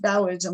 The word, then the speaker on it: Taoism: you might see it with a t it's pronounced bowism no matter if it's spelled with a deiority